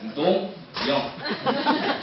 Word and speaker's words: Dongyoung: C'est pour ça aujourd'hui, je voudrais mettre accent sur mon prénom, Don Yang. Yang comme les jeunes, Yang même, YMCU.